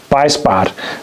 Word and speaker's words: Beissbarth: Beissbarth machine, and it's really a simple thing, but so clever still.